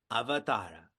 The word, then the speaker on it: avatara: The next significant thought that is shared is about avatara. Say it back to me. Avatara. Now say it wrongly. Avatar. Now say it rightly. Avatara. This comes from the verb avatar which means to descend.